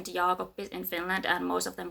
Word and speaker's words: Jaakoppi: doesn't bother me because it's not actually that wrong yopi it's not jagi or whatever that's not a it's like there's a there's two piece for for a reason we pronounce everything yopi